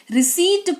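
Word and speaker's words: receipt: पी के बाद टी लगा हुआ है। जिसकी वजह से पी जो है वो साइलेंट रोल अदा कर रहा है। यहां पर लिखा तो जाएगा पर पढ़ा नहीं जाएगा।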